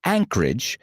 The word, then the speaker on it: Anchorage: El nombre Anchorage, pronunciado Anchorage, significa ancladero, y es porque el puerto de